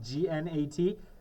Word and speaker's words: gnat: It's pronounced forget-me-nat, like G-N-A-T. A gnat, G-N-A-T, is another name for a small flea.